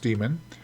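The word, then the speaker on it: daemon: AE m o NS but it's pronounced demon and then you also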